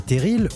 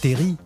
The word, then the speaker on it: terrils: qui vont en recevoir les teriles ou Terri vous choisissez la prononciation que vous préférez sont de toutes les